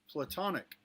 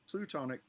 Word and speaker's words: platonic: to say it right platonic not plutonic platonic friends that you